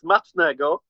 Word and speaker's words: smacznego: In Polish, it's smacznego.